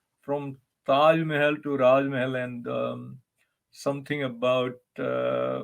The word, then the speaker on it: Raaz Mahal: of you know and Raj Mahal rhymes with Taj Mahal so it is about